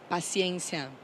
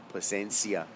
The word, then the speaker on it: Paciência: Paciência. Paciência. Paciência. Paciencia.